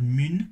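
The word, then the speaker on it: Mün: Is it mun with an umlaut? So it probably still be pronounced mun.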